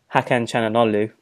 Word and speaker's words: Hakan Çalhanoğlu: And by the way, I've done my research to kind of make sure I pronounce this right. Hakan Çalhanoğlu from Bayer Leverkusen.